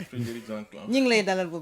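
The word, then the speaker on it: Frédéric Zanklan: Eramet Grande Côte direct monsieur Frédéric Zanclan c'est bien ça j'ai bien prononcé. C'est bien ça Frédéric Zanclan.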